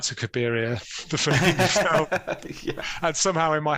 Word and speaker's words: Cabiria: confused between Caligari the place and N to cabiria the and somehow in my head I never